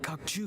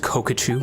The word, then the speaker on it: Kokachu: That Kokchu guy. He's the real culprit It's here. pronounced Kokachu. No, Mr.